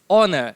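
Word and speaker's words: honour: बोलोगे thanks for this ऑनर इस सम्मान के लिए धन्यवाद इसको हम ओनर बोलेंगे यहां पर जो एच है ना वो क्या है साइलेंट है तो इसको बोलेंगे हम ऑनर thanks for this ऑनर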